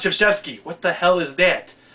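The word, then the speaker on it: Krzyzewski: I hate Coach K his name does not sound the way he spells it it looks like kuski but pronounced cheski what the hell is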